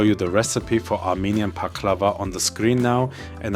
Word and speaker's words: Pakhlava: The Armenian version, the Armenian answer to this baklava, is pronounced Pakhlava.